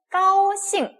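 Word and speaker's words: 高兴: GAO가 들어왔어요. G, 끄, 기억나죠? 그래서 AO와 합쳐졌어요. 어떻게 읽을까요? 까오라고 했습니다. 까오. 그리고 ing가 잉 발음이 납니다. x 기억나세요? 지치 시 할 때 xi 어떻게 읽어요? 시라고 했습니다. 그러면 어떻게 읽을까요? 싱이라고 읽을 수가 있겠네요. 까오싱 이렇게 읽을 수가 있죠.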